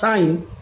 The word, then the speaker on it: sign: আবার সাইন, SIGN সাইন, জি কিন্তু এখানে সাইলেন্ট লেটার, সাইন মানে হচ্ছে চিহ্ন।